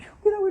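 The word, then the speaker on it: 畜: 요게 가축, 명사로 쓸 땐 축이라고 쓰지만 동사로 쓸 때는 흉이라고 읽는 게 좋습니다.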